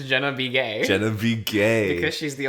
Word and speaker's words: Begay: b gay like johnny be good but jenna be gay i think it's supposed to be pronounced baguette begay like her last name yeah